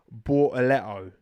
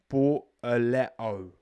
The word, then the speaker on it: Bortoleto: And yes, his name is Bortoleto, all right? That's how it's spelled. Bortoleto.